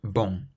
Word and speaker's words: bon: Let's take the word bon. Imagine it's spelt B-O-N-G, and say it out loud. Bong. But then if we stop just before we pronounce the G, bon, bon, can you feel your throat close slightly?